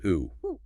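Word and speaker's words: οὔ: is simply no just the Greek word o pronounced oo one single syllable radical clausal ellipsis.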